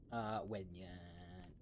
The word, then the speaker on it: Wednyan: It's Wednyan, right? Wednyan? Wedyan? Yeah. Wednyan.